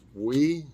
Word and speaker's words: Oui: i thought this morning i would try this we this is how it's pronounced we it's o-u-i we french and it's french-style yogurt